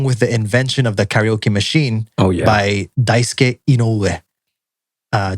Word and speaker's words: karaoke: The next word is one that everybody knows and everybody pronounces a little bit differently, is karaoke, or as pronounced by Japanese people, karaoke.